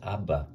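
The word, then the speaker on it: אבא: like this um so you would never know this is pronounced abba this is dead right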